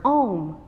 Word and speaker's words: Om: So I chose the word Om because it rhymes with home.